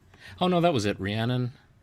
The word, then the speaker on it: Rhiannon: How do you say that? Reunion. Yeah, Rhiannon. Rhiannon.